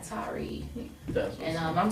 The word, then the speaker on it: Tarrey: And it's pronounced just like that video game, Atari ColecoVision. Just take the A off, and you got Tarrey.